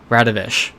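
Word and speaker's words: Radoviš: see that because that that kind of very blocky W makes a shh sound so that's how I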